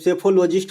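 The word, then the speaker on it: psephologist: है तो उसे सेफॉलिश सैफोलजिस्ट कहा जाता है ठीक है सेफोलॉजिस्ट कहा जाता है ये भी बात ध्यान रखेंगे इसमें पी साइलेंट होता है पी से लिखा जाता है सेफोलॉजिस्ट ठीक है सुप्रीम कोर्ट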